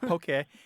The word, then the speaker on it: poke: But poke.